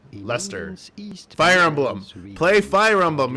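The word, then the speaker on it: Leicester: but it is to be pronounced and usually pronounced in Britain as gler yay I got it right and then this one is Lester we are looking at how to l e i c e s r Lester Fire Emblem Play Fire Emblem you'll know this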